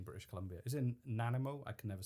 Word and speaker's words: Nanaimo: Is it in Nanaimo? I can never say it right. Nanaimo.